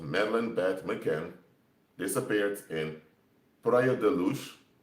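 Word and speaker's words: Praia da Luz: beth mccann disappeared in prior deluge that's how you pronounce it but i speak portuguese so in documentaries they pronounce it in very horrible ways but anyway prayer deluse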